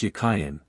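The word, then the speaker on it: Jachin: of the two names the word Jain in Hebrew is Hebrew it was probably pronounced yayan and meant as a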